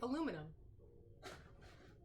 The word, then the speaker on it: aluminum: I know that's how you say it. Aluminium. And we say aluminum. Also known as Reynolds wrap.